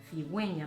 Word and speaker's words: cigüeña: Hay palabras que lo llevan para identificar que hay que pronunciarlas de una manera diferente. Por ejemplo, cigüeña, para que esa U se pronuncie.